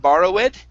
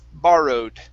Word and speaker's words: borrowed: Instead of borrowed, it's borrowed. Borrowed. Okay. Almost. It's borrowed. So our stress is at the very beginning of the word.